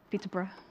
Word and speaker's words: Peterborough: Peterborough. That's how we say it. Peterborough. So, but it's spelled Peterborough, isn't it?